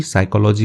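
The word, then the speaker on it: psychology: पढ़ लेते हैं साइकोलॉजी साइकोलॉजी का मतलब होता है मनोविज्ञान ठीक है पी साइलेंट होता है इसमें प्रोफेसर को तो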